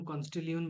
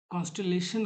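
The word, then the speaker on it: constellation: हर एक यूनिट को हम कॉनस्टिलियन बोलते हैं। और ऐसे कितना कॉनस्टिलियन देखने को मिलता है। ऐसे सॉरी इतना कॉनस्टिलेशन कहते हैं इसको प्रोनाउंसिएशन देखना सही तरीके से।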